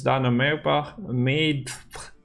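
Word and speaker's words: Dana Méadbh: And we have Call of Harmony that spawns Dana made. Yeah, that's how you pronounce it, which is a relic, another unique category, and it is a harmony unit.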